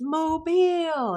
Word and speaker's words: Mobile: were like kind of bested and Donny couldn't pronounce the name of the town and people kept yelling at him. It's Mobile.